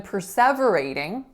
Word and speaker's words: perseverating: So in perseverating, there are 5 syllables, and the first one is per, the second one is the winner, se, the third one is v, so a v schwa, then a ray, alveolar flap, and then ing.